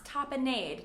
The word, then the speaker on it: tapenade: Tapenade, not tapenade, tapenade.